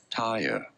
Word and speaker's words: Tyre: Tyre. Tyre. In American English, in British English, it is said as Tyre.